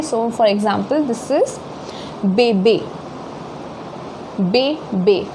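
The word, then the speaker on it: bébé: So for example, this is bebe, be. So you see the E has more emphasis, be, okay.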